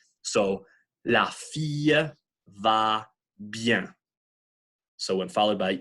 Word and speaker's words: bien: But really, when you look at how the word is formed, how it's structured in your mouth, it's really connected to the I, and it's one big syllable. It's hard to get that through our heads, but it's not bien, it's bien, if that makes any sense.